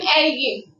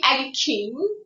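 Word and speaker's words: əriyim: Mənim erigim. Mənim erigim. You don't say like mənim erikim, not erikim. It is like erigim.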